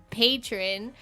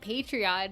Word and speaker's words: Patreon: We have a Podbeam patron, or for all of you nerds out there that call it Patreon, even though it's patron. It is a running debate in this household. Yeah, it's spelled patron.